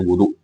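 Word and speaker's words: وُضُوء: mengambil Wadu di sini perbedaan antara Wadu dan wudu Wadu adalah alatnya wudu adalah perbuatannya jadi sama-sama tulisannya hanya saja bacanya beda wunya fathah sama dammah kalau dammah perbuatannya kalau fathah adalah alatalat yang digunakan untuk seseorang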